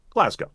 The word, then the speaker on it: Glasgow: and pan Su give me your left guard pronunciation here Sam for all the people Graham Glasgow Glasgow of course it started getting in my head